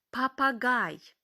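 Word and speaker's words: Papagei: пельц пупер Полі папи папагай е і ми читаємо як ай папа Гай літеру L вимовляємо м'яко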